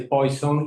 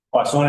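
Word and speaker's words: Poisson: Si se las dice un uno de habla inglesa les dice poison y si les dice uno de habla francesa le dice poón. Poazón era francés, así que él debe haber él debe haber pronunciado poazón, ¿no?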